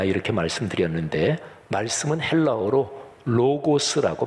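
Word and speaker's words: λόγος: 티어 코니 아 이렇게 말씀 드렸는데 말씀은 헬라어로 로고스 라고 발음합니다 우리 개성 드림 들은 이것은 다 아시죠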